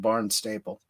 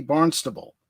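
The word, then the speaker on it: Barnstaple: a little village called swimbridge it's south of barn staple now there I go again that should be barnable right right and we have a barnable in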